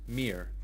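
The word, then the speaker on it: мир: MIR is the Russian word for world and peace. Pronoun mir. Pronounced mir. Near.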